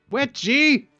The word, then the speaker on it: Wetchy: Wet G. We now know how to say his name.